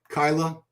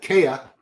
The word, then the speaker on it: Kaya: So, we're looking at 22-year-old Nihhat Kyla Nihad Kaya. I spelled his name wrong in my notes.